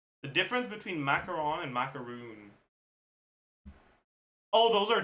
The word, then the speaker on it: macaron: Well, if the definition they give applies to both and they say macaroon once and macaron once, they should accept both like nah nah.